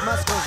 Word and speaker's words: muscles: showing off his big muscles right now. Did you actually pronounce the C in muscles?